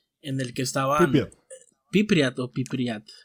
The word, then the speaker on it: Pripyat: Entonces había una ciudad o un lugar llamado Pripyat, en el que estaban Pripyat. Sí, con acento en la I. Pripyat.